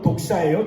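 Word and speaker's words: δόξα: 예배는 개인의 예배든 공동체의 예배든 여러분 하나님의 영광, 그 영광이란 말을 헬라어 원어로 보면 독사예요. 좀 우리말로 하면 이상하죠. 독사. 뱀 있는 독이 아니라 헬라어 발음이 독사예요. 하나님의 영광.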